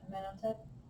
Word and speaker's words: Amenhotep: Part of the reason you're not raising your hands is because you don't know how to pronounce it. Yep. Yeah. Amenhotep.